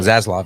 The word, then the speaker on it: Zaslav: Discovery chief David Zaslav. Almost had it perfect right I there. almost had it. How do you say No, it? Zaslav.